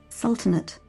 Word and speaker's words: sultanate: english sul is it sultanate sultanate i assume the e is silent so but what does